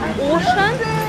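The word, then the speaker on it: Auchan: Итак, сейчас я приехала в Ашан, а по-французски это читается как Ошан из аптечки.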